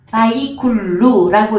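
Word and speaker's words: ויכלו: 이룬이라 바이쿨루라고 읽는데 자 끝나다예요.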